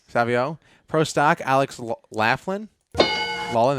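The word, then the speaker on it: Savoie: uh proo motorcycle Jerry how do you pronounce that randoo Savio yes Savio Pro Stock Alex Laughlin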